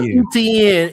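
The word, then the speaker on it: Etienne: Just say ETN and leave ETN, bro.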